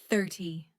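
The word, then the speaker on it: thirty: For example, 13 has the stress at the end, 13, but 30 has the stress at the beginning, 30.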